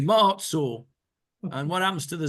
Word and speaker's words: Maoz Tzur: Maoz Tzur. And what happens to the Zion? It disappears in the way we speak. The correct pronunciation, of course, is Maoz Tzur.